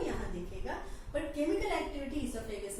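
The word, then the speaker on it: oesophagus: ईसोफेगस pronunciation में O आता नहीं है क्योंकि O साइलेंट है, इसलिए both which ways it is fine.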